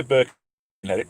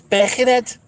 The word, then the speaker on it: Birkenhead: It's like Birkenhead. You can't say Birkenhead. It's Birkenhead.